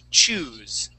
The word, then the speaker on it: choose: So that with one O, it's chose. With two O's, it's choose.